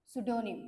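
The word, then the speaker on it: pseudonym: म्हटलं जातं one word मध्ये त्याला म्हटलं जातं सुडोनिम पी एस यडी ओ एन वाय एम सुडोनिम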